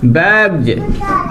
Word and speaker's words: bags: अब मिटाते हैं ऊपर रखो अगला हमने कहो का अगर एस के पहले जी आ जावे तीसरा नियम कह रहा बैज, BAGS, BAGS, यानी कि एस के पहले जी आ गो तो का निकले इसको उच्चारण बैग्ज, बैग्ज, बैग्ज।